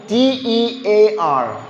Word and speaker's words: tear: അങ്ങനെയാണെങ്കിൽ T-E-A-R. T-E-A-R. Tear or tear? കീറുക എന്നർത്ഥം എന്ത് ഉപയോഗിക്കും? കീറാറുണ്ട്. Tear.